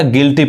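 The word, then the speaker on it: guilty: तो जब भी यू के बाद वोवेल आए तो वहां पे यू नहीं पढ़ाता है, यू साइलेंट होता है। क्या पढ़ाएगा, गिल्टी पढ़ेंगे, जिसका हिंदी क्या होता है, दोषी।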